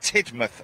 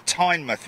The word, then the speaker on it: Teignmouth: show this Saturday down at Tidmouth or Teignmouth whichever way you like to pronounce it but more information